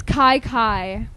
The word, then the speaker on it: Kye Kye: tell everybody that part set it straight it's Kai Kai yes and it means